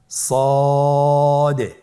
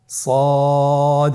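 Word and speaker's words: ص: মোটা হরফ উচ্চারণ ক্ষেত্রে মোটা করে পড়তে হবে এবং উচ্চারণ করার সময় তিন আলিফ টেনে পড়তে হবে। আপনারা আমার সাথে বলুন সদ আবার বলুন সদ।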